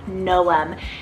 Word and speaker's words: Noam: means wiser next we have no um n-o-a-m noem this would make a phenomenal other alternative to